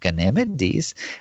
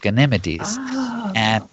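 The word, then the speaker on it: Ganímedes: In English, we call it Ganymede, but in Spanish, it's pronounced Ganymedes.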